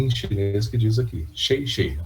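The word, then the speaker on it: 谢谢: agradecendo em mandarim, em chinês, que diz aqui, Shei Shei, a pronúncia disso aqui.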